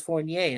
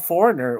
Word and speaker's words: Fournier: Well, my last name is Fournier, and it's very difficult to pronounce, much less spell, and everybody gets that wrong. So, I was even called foreigner at one time.